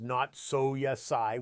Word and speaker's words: natsu yasai: They call it natsu yasai, pronounced not so yasai, which means summer vegetables.